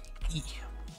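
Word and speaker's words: い: eels so that'll be e which remember this one's a little confusing because in romanji it's typed out as the letter i but it's pronounced like the letter e okay so this one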